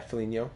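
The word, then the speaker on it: Foligno: just curious let's see folino how do you say that yeah Felino okay Felino looks cool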